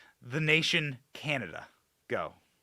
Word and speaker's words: Canada: in in step with Canadia uh she doesn't know what NORAD is. She doesn't know military terminology, basic military terminology. She doesn't know how to pronounce the word Canada. She called it Canadia. Oh man.